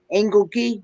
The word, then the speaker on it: Engelke: She says you said it right. Engelke?